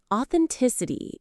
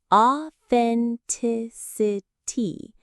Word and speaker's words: authenticity: Authenticity. The stress falls on the tick syllable. Authenticity.